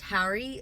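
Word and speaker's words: Hari: Last name is pronounced Harry, like H-A-R-R-Y, but it is spelt H-A-R-I, so figured I'd just clarify that for anyone that was wondering.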